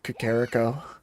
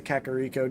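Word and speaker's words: Kakariko: When I was young, I used to pronounce it Kakarico. I pronounced it like that for a while until eventually hearing everyone else say Kakaro just made it sound more normal to me.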